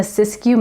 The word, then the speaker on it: Siskiyou: It’s nestled in the Siskiyou Mountains. Did you know that’s how you say it?